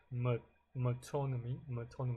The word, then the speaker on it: metonymy: Yeah, I did pronounce it right. Metonymy. It kind of sounds like, autonomy. Metonymy.